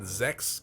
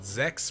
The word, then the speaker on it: Zechs: do you pronounce that Zechs call like text but Zechs with a Z they say the same